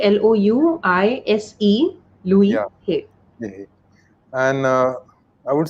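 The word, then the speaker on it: Louise: is by the lucy yeah her name is pronounced as louis l-o-u-i-s-e louis and uh i would say what i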